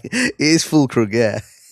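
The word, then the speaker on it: Füllkrug: It is fulkr.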